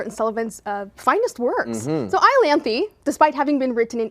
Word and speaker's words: Iolanthe: So this one has a name that I'm going to try to pronounce. Iolanthe. Did I do well? You got it right. Iolanthe.